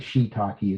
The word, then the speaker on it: shiitake: Some people say shiitake or shiatake. I think shiitake is more correct. Um yeah, it's got two eyes there, so it kind of fools you.